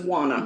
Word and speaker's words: Juana: Her name is Juana. Juana. Juana. Juana. I don't know. There's not a Q. Juana. Stop saying Juana. I'm saying Juana. Like Juan. Juana.